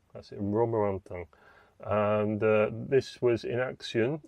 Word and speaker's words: Romorantin: As you'll see in a future video, I struggle to pronounce this place name, where the Musimatra is. It's Romorantin. That's it, Romorantin.